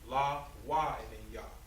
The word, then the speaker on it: Levi: levi levi is pronounced levi is pronounced right with just la and then why all right but we put we put them all together we have la why all right but we